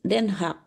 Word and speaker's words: Den Haag: Yusef, Ik woon in Den Haag. Den Haag. Ik woon in Den Haag. Haag. Haag. Ya, oke. Haag. Ik woon in Den Haag. Den Haag. H-nya Den dibaca tapi Haag. tipis. Dibacanya tipis. Oh.